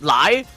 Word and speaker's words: Lei: Lei is also pronounced as lie like chai too.